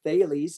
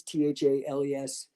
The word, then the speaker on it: Thales: working with my business thales t-h-a-l-e-s coaching uh you know spelled out but thales so rhymes with bailey's it's the the uh